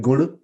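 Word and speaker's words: गुण: So I'll have to search because I cannot remember, but it's like, so we don't say gun. Gun is more the English version, but the actual way I learned it was guna.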